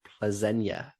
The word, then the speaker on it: Plzeň: They've got the early kickoff on the Tuesday away to Victoria Plzeň, as you have corrected me on the pronunciation for that.